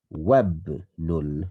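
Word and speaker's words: وابن: ibn lul mudarrisi khalidun We remember that this is Hamzatul Wasl, therefore it's a joining Hamza. It's a weak Hamza. So you don't pronounce the alif. You remove that, you put a little sign like that, and you say Wabnul Mudarrisi Khalidun.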